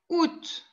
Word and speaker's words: août: Après juillet, il y a août. Août. Regarde, août, il y a un accent circonflexe sur le U. Et le A, chut, je ne prononce pas.